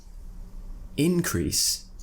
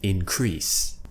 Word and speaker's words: increase: insult noun insult verb similarly increase and increase increase and increase make sure you're giving emphasis to the syllable you're stressing again this is noun and verb there has been an